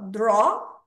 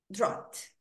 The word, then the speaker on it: drought: Wildfire, solar flare, heat wave, drought. Lembra que o GH eu não pronuncio. Então, isso aqui é só drought, drought, seca.